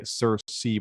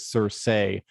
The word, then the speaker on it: Cersei: bit contentious even now some people say cersei but georgia martin always says cersei there's a great um meme i always liked where it was just um cersei i say cersei like